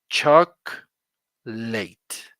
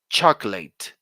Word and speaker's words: chocolate: very interesting word because you don't pronounce this o the O is silent do not pronounce the O here you just say choc late please repeat after me class chocolate one more time choc